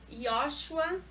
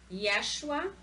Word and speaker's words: Yeshua: A gente tem o Yoshua, tem muitos que pronunciam Yeshua, aí fica conforme o português de cada um.